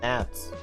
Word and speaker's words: gnats: There's a silent G in gnats.